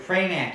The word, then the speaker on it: Pramac: And that is the right way to say it, right? Pramac. Yes, we used to call it Pramac, but I guess it depends what part.